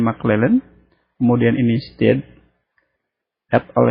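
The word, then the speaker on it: McClelland: dari modul maklelen ya Ini bacanya mclellen kemudian ini STAD at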